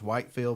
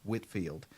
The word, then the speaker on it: Whitefield: I know if you've never seen this before, it looks like it's Whitefield, but it's actually pronounced Whitfield.